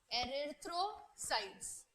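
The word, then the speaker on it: erythrocytes: क्या प्रोनाउंसिएशन कर रही हूं? एरिथ्रोसाइट्स।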